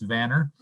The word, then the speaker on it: Vanner: a little bit of a correction on the pronunciation of the name it's vanner and um we have an